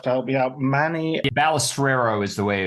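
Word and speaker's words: Balestrero: Manny Balisero is the way it's pronounced. Balisero. Okay, I should get that right because it's anal it's an Italian name.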